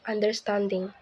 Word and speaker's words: understanding: For examples in the word understanding, the primary stress is on the third syllable, and the secondary stress is on the first syllable.